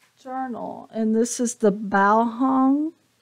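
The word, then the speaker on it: Baohong: and this is the bow hung bow hung is how you pronounce it um Academy watercolor Sketchbook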